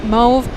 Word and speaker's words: mauve: Mauve. It's another word. Another word that Ray can't pronounce out of the list.